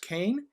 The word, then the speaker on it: Koehn: believe your last is your last name pronounced kane jayhawk so um j